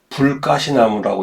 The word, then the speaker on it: 북가시나무: 그 다음에 이제 아까 말씀드렸던 불가시나무, 우리가 이제 쓸 때는 북가시나무라고 쓰지만은 어때요? 읽을 때는 불가시나무라고 읽는 것이 맞습니다.